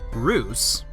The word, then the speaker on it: Reus: mellow sort of game Bruce pronounced truce a Dutch word for giant is a god game